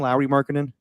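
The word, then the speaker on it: Lauri Markkanen: Lowry Markkinen? Well, yeah. So I guess that's how its name's pronounced.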